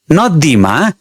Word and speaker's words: नदी: सिल्बस न र दि यसमा पहिलो सिलबलमा तुलनात्मक रुपमा बढी जोड वा बल पर्छ हामी उच्चारण गरेर हेरौ नदी दिद यसमा एकपल्ट दिमा बढी बल पारेर हेरौ बढी जोड दिएर हेरौ नदी अलि राम्रो सुनिदैन त्यस्तै जनकमा पनि जनक